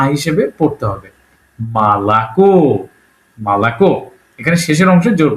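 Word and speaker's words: молоко: যেমন উদাহরণ দিছে মলক লেখা হয়েছে মলাক। কিন্তু উচ্চারণ একটু আলাদা।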